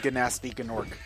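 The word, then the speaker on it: Gnasty Gnorc: I love how everybody just calls him Gnasty Gnork. Like, that's actually supposed to be how you pronounce his name. That's how some of the characters say it in the dialogue.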